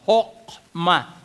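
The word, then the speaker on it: חכמה: Ang salitang Hebreo, tinranslate po yung salitang wisdom na Hokma, H-O-C-H-M-A, kung babasahin sa lingwaheng Hebreo, iyan yung pagkakapronounce. Hokma.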